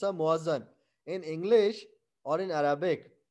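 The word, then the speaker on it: muezzin: So, Muazzan or Muaddan. Muaddan is in the Arabic literature or in the Arabic font. But for us, we will pronounce it as a Muazzan.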